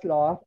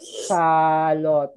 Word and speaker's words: sloth: The sloth is calm. Everybody say sloth. Sloth. Okay. This is only one syllable. Not salot. No. This is wrong. Okay, so say sloth.